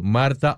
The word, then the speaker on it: Martha: su nombre y apellido, Marta. Pero Marta se escribe con TH, M-A-R-T-H-A.